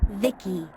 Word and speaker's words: Vici: by the way i'm vici pronounced vicky my creator was vivisecto